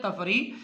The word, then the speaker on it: تفریح: پہلا لفظ ہے تفریح، تے کے اوپر زبر ہے، فے کے اوپر جزم ہے، اور رے کے نیچے جو ہے وہ زیر ہے، اور یہ کے اوپر پھر جزم ہے، تو یہ تفریح ہے۔ اس کے بعد اندالیب،